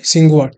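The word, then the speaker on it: Tsinghua: कि चाइना की है क्या नाम है सिंवा टी साइलेंट है तो सिंवा यूनिवर्सिटी जो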